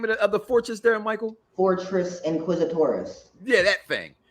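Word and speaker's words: Fortress Inquisitorius: find Leia, they go into how do you pronounce the name of the fortress there, Michael? Fortress Inquisitoris.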